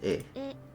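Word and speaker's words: え: Equivalent of the vowel E in English. Pronounced as E.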